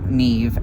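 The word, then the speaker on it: Niamh: sea goddess named neve now neve is spelled n-i-a-m-h and it stands and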